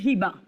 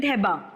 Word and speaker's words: Heba: See, as per the Quran, because it's from the Quran, my pronunciation is Hiba.